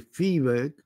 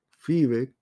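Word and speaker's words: Viehweg: Y empiezan a aparecer trabajos de Fiebig, que es el que se escribe Biweg, Theodor Biweg, Fiebig, Stephen Toulmin, y hemos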